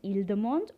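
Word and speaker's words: ils demandent: they want we will say ildemand again you have e-n-t silent ildemand or el dumont the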